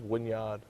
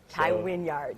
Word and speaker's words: Wynyard: All right, my last name is Wynyard, not Wynyard. Tai Wynyard.